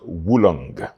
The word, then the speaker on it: oolong: But when you're pronouncing it, you pronounce it as if it is W U L O N G. It is pronounced woolong.